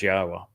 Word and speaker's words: Yahweh: I'm the first to correctly not only pronounce Yahweh's name, but to prove that the pronunciation of his name as Yahweh is accurate and reintroduce you to your God.